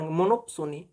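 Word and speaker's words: monopsony: होता है single पसोनी P Soni P यहां पर साइलेंट होता है ठीक है मोनो मोनो Soni मोनो Soni ऐसे पढ़ मोनोपसोनी ऐसे यहां पर लिखते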